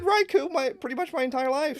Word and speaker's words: Raikou: We got Raikou. However you want to say it. Technically pronounced Raikou.